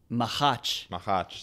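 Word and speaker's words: Machač: Mahach. Thomas Mahach. We just learned how to pronounce this guy's name.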